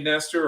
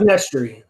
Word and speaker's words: Nestry: Now, I don't know do you say Nestor or Nestry? How do you say that? It's Nestry. It's like Nestry. Okay. Like Nestle with an R.